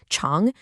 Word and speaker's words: 常: The third character, Chong, means always or constant.